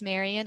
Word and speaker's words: Marian: My name is Marian, again with Etcher. It rhymes with librarian.